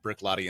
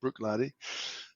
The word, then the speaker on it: Bruichladdich: So tell us a little bit about how you came to work at Bruichladdich in the first place.